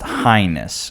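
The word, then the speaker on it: H'ness: so this is a it's the honda h-ness which is pronounced highness which is weird um but essentially it's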